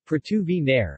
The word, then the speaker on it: Porto Venere: portu veneer italian pronunciation pratu v nehr until 1991 portovenir is